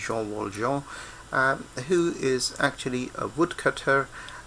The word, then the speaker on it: Jean Valjean: Well, in English you'd probably pronounce his name as Jean Valjean, but the French pronunciation is Jean Valjean, who is actually a